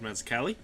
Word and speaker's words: Mazzucchelli: The story was written by Frank Miller, and the art is by David Mazzucchelli, which I think is how I say his name.